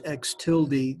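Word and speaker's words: x̃: we it's called that that symbol is called a tilde so we pronounce this X tilde that tells us that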